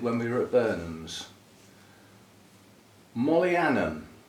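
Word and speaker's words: Mohlianum: Mollianum, with an H, which I assume is silent. M-O-H, Lianum.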